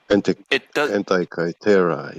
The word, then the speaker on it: Antikythera: Antikythera, yeah.